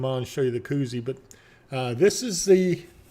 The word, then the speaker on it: Koozie: of the all right let me get it right Koozie it's Koozie not Jacuzzi even though my mouth gets